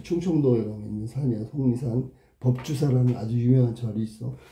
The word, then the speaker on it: 속리산: 속리산. 틀렸네. 속리산. 이렇게 발음해야 되는 거야.